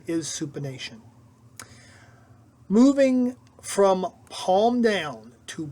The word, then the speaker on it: supination: incorrectly pronounced supination as supination but the correct pronunciation is supination moving from palm down to palm up is supination when your forearm is in the supine position